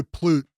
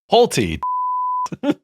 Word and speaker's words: Pulte: Your boy Plute has suggested that they're going to do portable mortgage rates. Pulte. Not Plute.